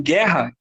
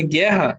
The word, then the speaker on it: guerra: não me dá um dinheiro quando eu não pronunciar a letra O aqui ó em guerra quer né eu falo assim ó guerra Vai